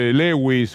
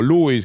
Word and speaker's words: Lewis: el amigo de macri lewis o louis como usted quiera pronunciarlo y tantos otros capangas